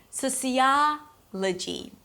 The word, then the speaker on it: sociology: Sociology.